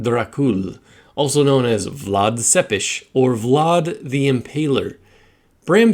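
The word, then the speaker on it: Țepeș: fact that Adrian tepe's last name is actually pronounced seppish according to the YouTubes and it translates to Impaler in Romanian a reference to count Vlad dracul also known as Vlad sepesh or Vlad the Impaler Bram Stoker Drew inspiration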